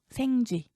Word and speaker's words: 생쥐: 생쥐의 생은 근데 긴 소리예요. 생쥐.